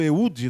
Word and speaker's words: Eúde: Juízes um cidadão chamado eúde né eú é assim a pronúncia dele porque o assento né tá lá no u ele era muito habilidoso